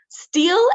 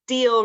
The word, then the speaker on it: steel: te's yeah good question steel and still good question so the first one s a l is steel really like draw that e sign out e sound out steel and then the second